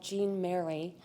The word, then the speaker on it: Jean-Marie: Jean-Marie, sometimes called Jean Mary, depending on whether you were pronouncing it in the French that he grew up in or in English, which was customary in St. Louis.